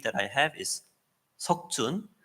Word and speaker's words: 석준: 쓰는데 the Korean name that I have is Seokjun. 제 한국 이름은 석준이에요. So I tell them my name is Seokjun. 내 이름은 석준이야라고 얘기를 하면 They say, "What?" 뭐라고? Seokjun.